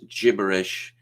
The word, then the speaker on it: gibberish: Okay, it's supposed to be pronounced gibberish. I don't know. I like the hard G. The hard G is funny.